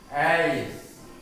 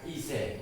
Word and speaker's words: eyes: Ais. Ais. Bukan ise, bukan s ya.